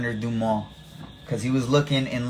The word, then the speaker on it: Dumas: if you didn't know if you didn't know how to pronounce it you might be inclined to pronounce it like dumbass and so it's alexander